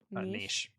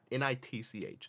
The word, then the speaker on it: niche: Niche. Niche is correct. Niche. There is no T, it's not NITCH, it is niche.